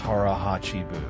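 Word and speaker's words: 腹八分: Harah hatchibu pronounced harahachi buu.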